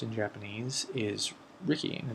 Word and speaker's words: Riki: but the way the word is spelled and pronounced in Japanese is Ricky and it's r i Ki which is the